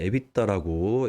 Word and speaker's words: EBITDA: EBITDA, 에비타라고 읽고요.